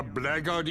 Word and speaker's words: blackguard: You would be a blackguard in service to Belafet? Oh, gosh. Okay. I know it's pronounced blackguard. I don't like that it's pronounced blackguard when blackguard sounds so much cooler.